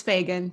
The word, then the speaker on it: Fagan: we have, and is it Fagan? How do you say your last name? It is. It's Fagan, Fagan.